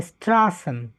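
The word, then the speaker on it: Straßen: 101 আচ্ছা 101 এটা এস সেট বা ডাবল এস এর মত উচ্চারণ হবে হ্যা স্ট্রাসেন স্টাসেন মানে হচ্ছে রাস্তা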